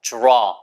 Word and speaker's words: draw: 그려봐요 draw a circle 발음이 로우 절대 아니고 draw 어 어라고 할 때 dra